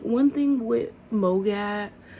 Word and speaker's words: MOGAD: So, but I feel like one thing with MOGAD, or they call it MOG, but it's spelled MOGAD, is that you have